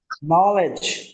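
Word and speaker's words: knowledge: নি knife knife knife নলেজ মনে রাখবেন এইযে কে এর পরে এর পরে যদি এন আসে তাহলে সেখানে উচ্চারণটা হয় না বরং এন এর উচ্চারণটা করতে হয়।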